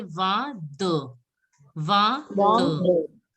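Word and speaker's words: vingt: 20 is called as known as va. 20 is pronounced as va.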